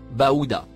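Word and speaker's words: بعوضة: Il se prononce Baouda.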